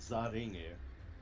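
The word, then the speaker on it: ザ・リング: they were literally saying, which is the English words "the ring" in katakana, which yes is literally pronounced "zaringu," but they just didn't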